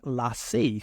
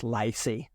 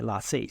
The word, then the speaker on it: LaCie: So I definitely recommend these, and I now pronounce them LaCie, thanks to one of my YouTube subscribers who pointed out that they're not pronounced LaCie, like I say in my Australian accent, they're LaCie.